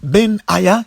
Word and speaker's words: Benaja: homme que l'on appelle bennage a prononcé en hébreu ben yahia qui s'y fie l'éternel